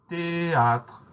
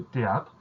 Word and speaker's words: théâtre: Donc il y a un H qui s'est glissé au cœur de cette première syllabe, un H qu'on n'entend pas évidemment, donc on y pense.